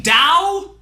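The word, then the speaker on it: Tao: like someone else this is to you mean Dao the word that's spelled like ta but pronounced like Dao except by people that know absolutely nothing about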